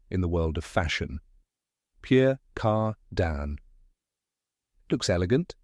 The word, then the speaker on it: Pierre Cardin: the world of fashion Pure Car Dan looks elegant sounds fancy but how do you say it correctly let's find out correct pronunciation is Pier cardan with a soft nasal ending let's break it down